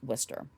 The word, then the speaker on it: Worcester: worchester um without the h but it is pronounced worcester um he said personally i don't feel that